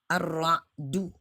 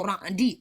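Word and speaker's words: الرعد: Ar-Ra'du. Makanya saya cenderung membacanya Ar-Ra'du. Karena tercantum dalam ayat ke-13. Walaupun saya bisa menerima ada orang membaca suratul Ra'di.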